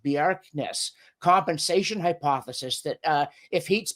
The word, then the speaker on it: Bjerknes: that there's this widely accepted, I think it's pronounced Bjerknes, compensation hypothesis, that if heat's been carried one